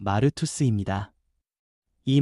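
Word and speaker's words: μάρτυς: 증인이라는 말은 헬라어 발음으로 마르투스입니다.이 말은 단순히 말로 설명하는 사람이 아니라 자기 삼전체로 예수님이 살아 계심을 보여주는 사람을 뜻합니다.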